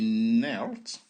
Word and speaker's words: knelt: I knelt.